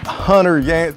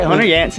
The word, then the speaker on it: Hunter Yancy: So it's Chris Jenkins along with Hunter Yancy. Did I say it right? Yes, right. Hunter Yancy.